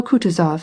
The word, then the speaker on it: Kutuzov: asked anna pavlovna jono kutuzov has been kind enough to desire me as his aide to comp he spoke in french and accented the last syllable of kutazov's name like a frenchman elise votrefem she will